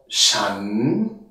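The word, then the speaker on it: ฉัน: Chan. Mit dem Laut oder Buchstaben Shaw, ja, kurzes A, N, Doppelschreibung vom N, wie beim deutschen Wort wenn, damit wir wissen, dass das A kurz ausgesprochen wird.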